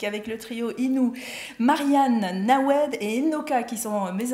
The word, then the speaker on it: Hnawejë: Alors ça s'écrit Nawedje, mais ça se lit Nawed.